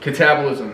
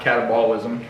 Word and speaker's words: catabolism: cattle what's the word catabolism that's how you say it not catabolism catabolism which is the